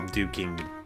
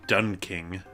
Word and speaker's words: Duking: these names right because I used to always call duking done King and I don't know why I was adding an end have you heard while